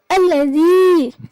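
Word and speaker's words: الذي: Kemudian pada lafal alladzi, nah zi-nya di sini termasuk bacaan alif lam syamsiah, di mana ada huruf alif lam yang bertemu dengan huruf dzal.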